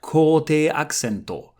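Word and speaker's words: 高低アクセント: And it's slightly different than the English stress because it's not just one stressed syllable, but kote means high and low. So each syllable will either be high or low.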